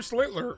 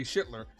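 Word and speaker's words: Schlittler: Even though Cam Slitler, I think I'm starting to say his name right. Com comfortably enough not say Shitler.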